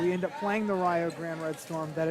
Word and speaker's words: Rio Grande: every broadcaster that we end up playing the rayo grand red storm that it's spelled rio grande but it's pronounced rio grande